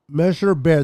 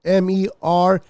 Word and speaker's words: Mercer: Jason Poe out of Measure Bear. The Measure Bears. I don't know if I pronounced the college name correctly. It's MERCER.